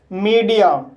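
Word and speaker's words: media: शुरू करते हैं तो गाइस नॉर्मली आई ए का उच्चारण ई आ होता है फॉर एग्जांपल मीडिया इस वर्ड में एम को मा पढ़ेंगे ई को ई पढ़ेंगे डी को ड पढ़ेंगे आई को ई पढ़ेंगे ए को आ पढ़ेंगे इस तरह से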